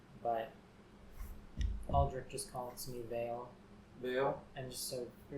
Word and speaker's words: Vael: I never quite learned the right pronunciation, but Aldrich just calls me Vale.